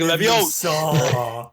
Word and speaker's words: Leviosa: Like when they're practicing like Wingardium Leviosa, you have to say it like a certain way, like Emma Watson / Hermione's just like Leviosa.